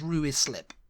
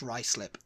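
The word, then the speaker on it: Ruislip: in Northwest London um I used to think it was ruis slip you know ruis slip ruis lip yeah was it's rice lip rice lip yeah like you got a bit of rice on your lip he you get your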